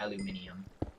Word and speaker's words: aluminium: Also, technically it is called aluminium. Like, that is the official pronunciation.